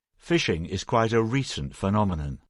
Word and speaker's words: phishing: we should explain that even though the pronunciation is the same this variety of fishing is spelt with a ph and not an f right phishing is quite a recent